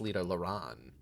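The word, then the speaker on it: Lydha Lran: Are those like separate syllable? I've been saying Lita, like trying to say the L and the R at the same time. It's Lita Lauran.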